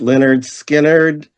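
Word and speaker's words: Lynyrd Skynyrd: Now, my number 20 for 1973 pronounced Leonard Skard.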